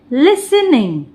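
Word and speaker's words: listening: ई R after after लिसनिंग एल आई एस अब देखिए इसे तोड़ते हैं हम एल आई एस लेस अब यहां पे टी साइलेंट हो जाता है एन लिसन लिसन निंग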